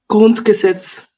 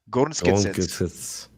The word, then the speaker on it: Grundgesetz: Is that how do you pronounce that, by the way? Grundgesetz. Grundgesetz.